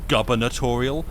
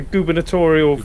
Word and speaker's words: gubernatorial: I I for for a long time I always thought like governatorial was like a piss take on people going, "Oh, my government like a just like a a joke mispronunciation of government." But no governatorial you win the the gubernatorial election and then you get to be gubinator.